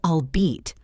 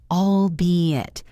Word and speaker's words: albeit: Some people say albeit or albet, or sometimes even albeit, because the letters E-I-T look a bit like a French-style ending. But the correct pronunciation is albeit, 3 syllables, albeit, albeit, albeit. The stress is on the second syllable.